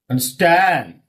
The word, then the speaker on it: understand: Stress fall on second syllable. Understand.